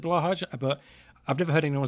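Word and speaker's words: Blåhaj: Actually, Rendescape, it's pronounced blowhigh. Is that true? How do you say blahaj? I've always said blahaj, but I've never heard anyone say it out loud, so I don't know.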